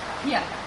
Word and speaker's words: Bianca: Am I saying it right? Is it Priyanka or Bianca? Bianca. Okay.